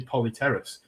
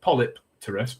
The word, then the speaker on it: Polypterus: thing it's it's it's Terron is the second word and it's a silent P so when you put the two together it should be polyteras it shouldn't be polypterus because You You're separating the words wrong.